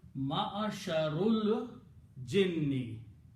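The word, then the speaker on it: معشر الجن: So what's the pronunciation now? Ma'asharul jinni.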